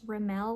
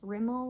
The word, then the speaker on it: Rimmel: I've heard it pronounced RL London. I've also heard it pronounced Rimmel London.